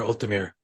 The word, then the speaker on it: Ultimere: um, um, it's I would prefer Ultimere Ultimere because Ultimere I've heard it. Archives. The name I got it from is pronounced. There's like two pronunciations, but Ultimere is okay.